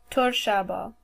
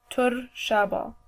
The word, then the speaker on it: Torshaba: Monday is pronounced as Torshaba. Torshaba. And always remember that Chaldeans always roll their R's. So when you say Monday, make sure that you're rolling the R. Torshaba.